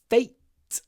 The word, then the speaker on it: fate: don't tempt fate pronunciation fate remember to clip the a f fet you need to pronounce with a smile f f smile fate